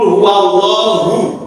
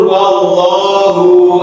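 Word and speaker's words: هُوَ: Qul huallahu hunya itu hanya satu harakat tapi sering kelirunya qul huwallahu ahad. Ya, qul huwallahu ahad. Jadi ada tambahan huruf wau wau madhiah ya seharusnya qul huallahu ahad hunya pendek satu harakat bukan qul huwallahu ahad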